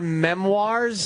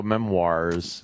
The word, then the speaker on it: memoir: So you write your memoirs? Memoir. Memoir. What's memoir? That's how you pronounce it. Oh, I always go memoirs.